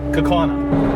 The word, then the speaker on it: Kaukauna: I do forget the name of that City that I put down at the bottom of the screen earlier is kakana and it's very funny because there's several people even from Wisconsin that don't say it right we've got some friends